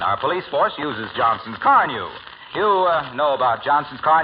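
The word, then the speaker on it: Carnu: You just ask the boys at the station about Car New, Sarge. It's spelled C-A-R-N-U.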